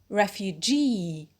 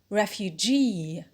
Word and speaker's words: refugee: 2, the stress-carrying suffix e, like refugee, refugee.